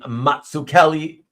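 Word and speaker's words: Mazzucchelli: which confirmed 100% that he does indeed pronounce his name, Matsu Kelly, which is the correct Italian way.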